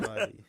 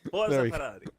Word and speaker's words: Ferrari: You want to dude you have to say it like with an Italian accent. Pull a Ferrari. Pull a Ferrari. There it is. There it is. A Ferrari. Ferrari.